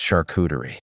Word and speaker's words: charcuterie: Charcuterie is pronounced charcuterie. Here's the breakdown. Char, like shark without the K. Koo, sounds like coo from a pigeon. Tuh, just a quick tuh like tummy. Ree, rhymes with C.